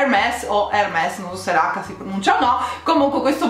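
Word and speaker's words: Hermès: come si pronuncia ok la pronuncia corretta è hermes questa era che ovviamente procede il nostro pronunciare parola h è silenziosa quindi tutti gli inglesi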